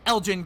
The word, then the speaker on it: Elgin: elgin juliet in eastern it is not a hard g it is a soft g uh well your friend nick needs to know learn how to pronounce elgin correctly jessica that is